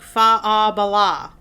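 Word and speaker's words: Faugh a Ballagh: shouted a Battle Cry it sounds like faab Bala that's how it's said FAA it means clear the way and it's spelled really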